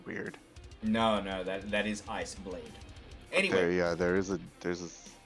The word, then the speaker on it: Iceblade: That is Iceblade. Oh. Okay. I always thought it was like Isabel, and it was just spelt weird. No, that is Iceblade.